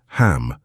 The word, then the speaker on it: Ham: Every morning, after the first gate practice, stand, breathe deeply, and vocalize the sound ham for 5 minutes. Ham, pronounced with mouth wide open, vibrating in the throat.